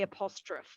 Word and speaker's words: apostrophe: was asked about apostrophe apostrophe the e we do actually pronounce the e at the end apostrophe we don't say apostrophe it's apostrophe um the difference between